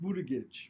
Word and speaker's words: Buttigieg: That's how you pronounce it, right? Buttigieg?